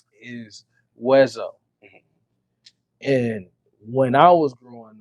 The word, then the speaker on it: Weszo: if he really saying my name is west oh but it's weso you know because that's